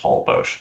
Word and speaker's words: Holbox: So there's an island in Mexico with the same name, and right. It is pronounced Holbox. Okay, all right.